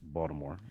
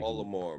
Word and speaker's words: Baltimore: First of all, I'll just tell you, it's pronounced Baltimore, just for anybody. Baltimore.